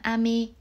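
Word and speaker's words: 飴: có âm đọc là ame. Tuy nhiên với từ mưa sẽ đọc lên cao ở âm A là ame, và từ kẹo sẽ đọc ngang là ame.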